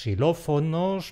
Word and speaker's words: xilófono: Y luego están los xilófonos, la xenofobia, etc., que son palabras que están formadas sobre raíces griegas. Ahí la equis suena como una simple ese.